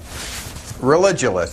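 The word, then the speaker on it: Religulous: name of your movie it's religionist it's like you're saying religion and then you go to ridiculous for obvious reasons well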